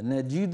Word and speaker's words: نجد: نجد، اكسر الجيم كسر كامل، ولم نجد له عزما. نجي وليس نجي، جي هذه إمالة، نجد هذا كسر كامل.